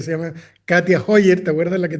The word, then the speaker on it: Katja: muy bueno, así que pongan Katia, se escribe con J, Katja, Katia Hoyer, h o y e r.